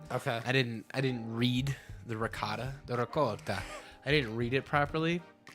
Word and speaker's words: ricotta: The ricotta. My trick, My wife is gonna murder you. That's how it's pronounced.